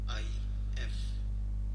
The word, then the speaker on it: الف: اور اگر ہم اس کو انگلش زبان میں، انگریزی زبان میں لکھیں تو اس کا تلفظ ALIF الف.